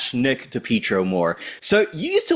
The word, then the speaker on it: DePietro: woman is that you pick up on the pronunciation of certain words. Right away, I read it and I was like, oh, DePietro.